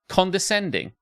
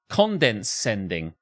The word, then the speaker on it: condescending: for I have sinned my wife says I'm condescending but she pronounces it condenscending I can't correct her